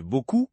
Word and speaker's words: beaucoup: prononce o et au e de qui se prononce comme un e ouvert. Et surtout le p de beau coup qui est mué.